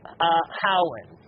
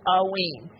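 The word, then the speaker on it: Haüyne: Now, to go back to aween, there's a couple ways to pronounce aween, just so you don't get the minerals confused. If you listen to one mineral dealer like Mindat, they go Howen. Another one goes aween. So either Howen or aween, if you hear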